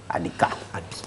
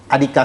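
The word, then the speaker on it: Adikea: On lui donne souvent ce nom, Adika. Alors, Adika s'écrit A-D-I-K-E-A. Adika.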